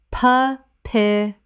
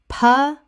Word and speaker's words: papyrus: Common mispronunciation. Pa-pi-rus. Correct pronunciation. Pa-pi-rus. Three syllables with the stress on the second.